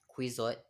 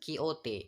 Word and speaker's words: Quixote: my favorite novel called don quixote it's not quizo or kizzot but kiote it is based on spanish pronunciation but before we dive